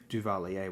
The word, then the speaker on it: Duvalier: baby Dr duvelier's regime duvalier would be the exact pronunciation there the record is